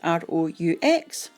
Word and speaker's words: roux: So while that's doing its thing, you can make your roux, which is R-O-U-X, pronounced roux, R-O-O.